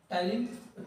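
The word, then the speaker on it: ptyalin: ठीक है, टाइलिन, इसका वर्ड मीनिंग पी से स्टार्ट होता है, तो पी साइलेंट होता है।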